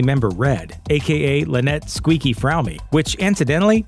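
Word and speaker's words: Fromme: With fellow family member Red, aka Lynette Squeaky Fromey, which incidentally, it really is pronounced Fromey, not Fromm.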